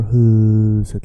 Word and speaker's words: huset: Vet ni var huset ligger? You see how I stretch huset? I'm stretching the first syllable.